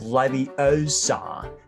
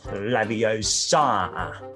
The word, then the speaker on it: Leviosa: you're saying it wrong it's laviosa not laviosa yo yo stop it